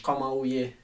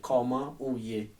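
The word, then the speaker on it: Kouman ou ye: Yeah, that's French, but in Creole you say comment ouye.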